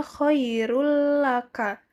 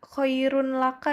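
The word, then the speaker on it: خير لك: bertemu lam berarti kalimatnya koirullaka nah dibacanya enggak koirun laka ya anak-anak Jadi dibacanya koirul laka karena dimasukkan kemudian ketika bertemu dengan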